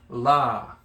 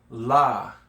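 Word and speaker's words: Lā: Now you notice that there is a line, that's a kahako again, and that elongates the La. Okay, so La. Okay, so everyone, La.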